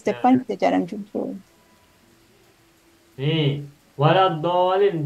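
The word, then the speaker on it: وَلَا الضَّالِّينَ: Nih, waladdallin do fathah oleh alif berarti mad tabi'i. Bertemu dengan tasdid, maka bacanya menjadi dolin.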